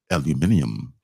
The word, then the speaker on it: aluminium: people say honestly honestly I like the way they say aluminum they say aluminium which sounds much more cool much more syllables I don't like that